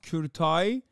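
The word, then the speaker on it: Kurtaj: It's pronounced Kurtai. It's killing me, bro. Please, whatever, bro. It means abortion in Turkish. Despite having his laptop confiscated, Courtage managed to breach Rockstar,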